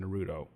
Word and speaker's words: Naruto: I don't emphasize the T when I say it like an American, and I say Naruto. But it's like I'm gonna go to. I guess the T doesn't come out in Naruto.